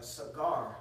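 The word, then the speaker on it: סגר: I think in the Hebrew, the word there is a cigar, not like cigar which you smoke, but you know what I'm saying. That's how you pronounce the word in the Hebrew. Sa and gar, okay, and it means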